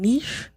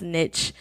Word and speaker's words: niche: at different schools and I was either saying nice or niche it sounded like it's a but it's correctly pronounced is niche so niche comm basically is right yes to give you